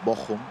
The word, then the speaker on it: Bochum: And then we have Johnny representing BFL Bochum from right to left with that. This is a perfect German pronunciation.